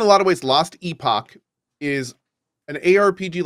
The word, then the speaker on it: Epoch: Yes, apparently there's a British accent in the game, and apparently in Britain it is pronounced Epoch, and then in America and other places it's pronounced Epoch or Epoch, like with a U.